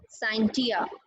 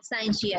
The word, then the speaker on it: scientia: Science is derived from a Latin word scientia or scientia. You can pronounce in both ways.